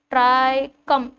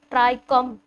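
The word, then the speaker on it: trichome: लिखा है ट्राई को ट्राई कम ट्राई कम ट्राई कोमा नहीं है ट्राई कम है ओय होए इतने सारे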